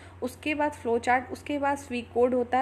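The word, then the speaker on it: pseudocode: क्या है ठीक है पीस में साइलेंट है इसको हम स्वी कोड के नाम से जानते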